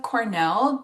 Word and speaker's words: cornel: So not a lot of other names but we do have Cornell spoken or pronounced just like Cornell University.